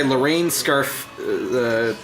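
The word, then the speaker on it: Lorene Scafaria: It was written and directed by Lorraine Scafaria. That's how you pronounce it.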